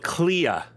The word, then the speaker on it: Klea: Temple of Klea. Klea is the pronunciation.